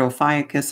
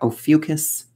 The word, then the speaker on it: Ophiuchus: and you know what Ophiuchus is, and that's just how I have found to pronounce it. I've heard Ophiuchus, I've heard Ophiuchus. I like Ophiuchus. Go with what works for you.